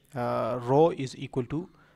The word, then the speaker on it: rho: Okay, so this rho is actually a lower case Greek word that is pronounced as rho, rho, rho.